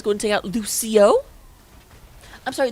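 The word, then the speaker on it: Lúcio: going to take out Lucio I'm sorry the only correct way to say Lucio's name is like you're saying Rufio because this book is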